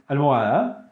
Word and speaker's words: almohada: If you watched the previous video on the alphabet, you already know that H in Spanish is silent. And so we say almohada, helado, hielo, hongo, and huevo.